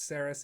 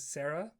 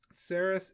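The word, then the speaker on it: Seras: to the fact that i think you pronounce saris as sarah and i think you pronounced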